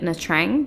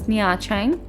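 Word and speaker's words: Nha Trang: I've been very confidently calling it Natrang, but we've just listened to a video that says it's narrang. I've been pronouncing it very wrong and I'm sure I will many times in this video.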